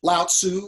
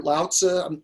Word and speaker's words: Laozi: Um, Laozi or Lao-Tzu, you know, however you want to say his name, the ancient Chinese sage and one of the founders of Taoism, right?